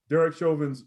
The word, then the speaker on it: Derek Chauvin: And the second topic we're going to talk about is the ripple effect that Derek Chauvin, I said it right, Derek Chauvin's verdict is having on our communities.